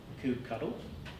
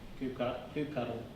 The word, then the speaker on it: kubectl: In my mind, I read it as kubectl. And there is, I believe there is some actual mention in the Kubernetes version updates about an appropriate pronunciation, but you can call it whatever you like.